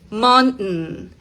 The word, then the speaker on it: mountain: Mountain. Mountain. Mountain. Detenida, glotal.